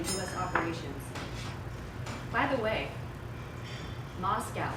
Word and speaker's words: Moscow: By the way, Moscow, there's no cow in Moscow, and I pronounced it wrong.